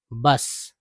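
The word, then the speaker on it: bus: लेकिन जब सामूहिक रूप से पढ़ना होगा तो हम लोग पढ़ेंगे बी यू एस। बस।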